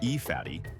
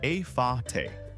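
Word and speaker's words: Efate: The capital, Port Vila, is on the island of Ifate. And no, it's not pronounced E-fatty, it's A-fa-te.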